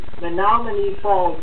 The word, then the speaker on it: Menomonee Falls: The correct pronunciation of the city of which the first contestant is from is actually Menomonee Falls, Wisconsin.